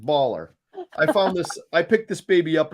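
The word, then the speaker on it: BALR: It's spelled B-A-L-R period, baller.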